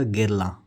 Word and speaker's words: Guerlain: French house है दोस्तों तो फ्रेंच में जो यह जो इसका जो लास्ट वाला एन है यूजुअली यह लोग साइलेंट करते हैं जैसे हम इंडियन अगर लैंग्वेज में इंडियन इंग्लिश में ब्रिटिश इंग्लिश में प्रोनाउंस करेंगे तो वह कुछ ऐसा होगा ठीक है तो अगर हम इसका फ्रेंच में प्रनंसीएशन देखेंगे तो यह हो जाएगा गिरल तो कुछ प्रनंसीएशन में